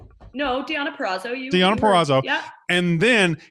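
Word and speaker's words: Deonna Purrazzo: tna champ diana uh i always say her name wrong no diana perazzo diana perazzo yeah and then here's my comment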